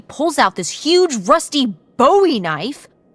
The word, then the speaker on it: Bowie: out this huge Rusty Bowie knife it's actually pronounced buoy what no no it's